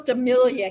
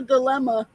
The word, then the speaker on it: dilemma: I said, I'm having a real Demelia here. And she's like, Demelia. And she goes, Demelia. You were trying to say you were having a dilemma. But I and I always thought I was saying it right, but evidently not.